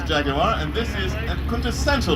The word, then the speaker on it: jaguar: our next category is jaguar yes three syllables jaguar and this is a